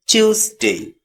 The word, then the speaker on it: Tuesday: Not Tuesday, just say Tuesday.